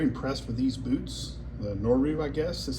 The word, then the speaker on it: Noru: The Nor is how you say it.